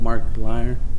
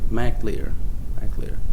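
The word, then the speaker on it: Mac Lir: Dark Shield Mark Lear. Well, I'm saying it wrong. Dark Shield Mac Lear.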